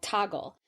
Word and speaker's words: Toggl: start using something called Toggle. And it's spelled Toggl. I don't think they have the E on it.